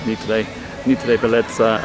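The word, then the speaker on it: NTV Beleza: It's spelled NTV, but in Japanese it's pronounced Nittei Bellezza against Urawa Reds ladies.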